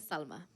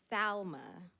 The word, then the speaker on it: Salma: My name is Salma. Not Selma, not Salma, but Salma.